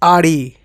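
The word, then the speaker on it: Audi: मैंने एक बार ओडी बोल दिया। ओडी नहीं इट्स आरडी।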